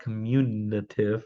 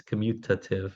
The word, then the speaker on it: commutative: just mispronounced um is it's not communative right it's commutative the um and the